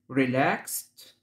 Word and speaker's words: relaxed: calm طبعا ال silent، relaxed الدي هنا بتنطق الت، relaxed مسترخي أو مستريح،